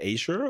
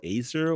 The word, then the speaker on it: Azure: AWS another one is Microsoft Microsoft Azure or Acer or Azure depends on how how people pronounce it um is their solution